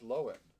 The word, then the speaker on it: Lohan: on uh oh and her name's loin she said everyone's saying been saying it wrong the whole time really yeah lindsay lohan that's very weird oh